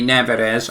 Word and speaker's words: Nevers: Speaking of clips, there's a clip going around of our new signing Thierry Nevers. I think it's Never. It's spelt Never with an S. Nevers. Must just be pronounced that right.